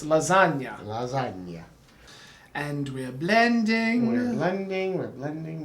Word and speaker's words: lasagna: with lasagna it's here it's not lazagna although i've been known to call it that because i'm pretentious and also an idiot um but it's lasagna and we're blending we're